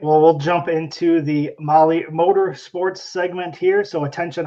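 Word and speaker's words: Mahle: And for all of you podcast listeners, Molly is spelled M-A-H-L-E.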